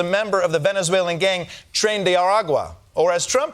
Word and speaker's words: Tren de Aragua: suspect is a member of the Venezuelan gang Tren de Aragua, or as Trump pronounces it, Trendy Arguay.